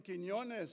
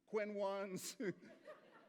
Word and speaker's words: Quiñones: please welcome John quinones thank you for pronouncing quinones so well it's not the easiest name to pronounce I mean I've been called everything from Quinn once to Queen Nonis even Barbara Walters couldn't